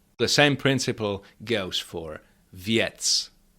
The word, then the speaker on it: věc: But since p is not affected uh this shatchkim is is pronounced yest. The same principle goes for viet viet that means a thing.